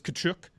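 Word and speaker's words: Tkachuk: American and I've heard Keith Chuck but it's kachuk yeah it's good Chuck but he's called Chucky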